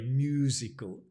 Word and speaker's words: musical: don't consider myself very musical Musical musical the stress comes back on the first syllable musical instruments musical family